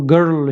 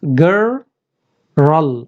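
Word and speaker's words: girl: किया था American accent तो मैं भी इसको गर्ल ही बोला था, गर्ल। लेकिन अमेरिकन इसको ऐसे नहीं बोलते। Let's see the trick now. Yes, they pronounce this like this, गर्ल।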